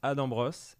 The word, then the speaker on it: Adam Bros: Ça se prononce Adam Bros.